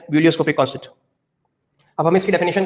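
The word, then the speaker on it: ebullioscopic: इसके दो नाम है मोलरल एलिवेशन कांस्टेंट या फिर इसका नाम ठीक है क्या ब्यूलियोस्कोपिक ई साइलेंट रहता है इसके प्रोनंसिएशन में बिलियोस्कोपिक कांस्टेंट अब हमें इसकी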